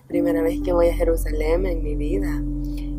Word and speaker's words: Jerusalén: Sí, yo pensé que yo siempre lo pronuncio Jerusalén, pero es Jerusalén.